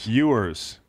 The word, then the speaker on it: Ewers: Ewers. Why is it spelled that way? Like Patrick Ewing.